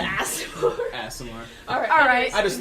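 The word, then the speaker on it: Aasimar: I pronounce Asimar. I pronounce it Asimar.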